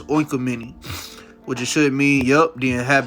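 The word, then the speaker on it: οἰκουμένη: let me look this word up yup it's oinka mini what you should mean yup the inhabited earth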